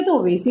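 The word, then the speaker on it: क्त्वा: 5 में पहला प्रत्यय त्वा प्रत्यय। इसमें क साइलेंट रहता है, लिखने में आता है लेकिन बोलने में इसका प्रयोग नहीं होता, क साइलेंट रहता है, तो इसका उच्चारण हम करते हैं त्वा प्रत्यय।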